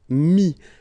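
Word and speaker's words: mis: And then mettre, to put, so e-t-t-r-e, will give you this i-s, mi. Same thing here, final s is not pronounced.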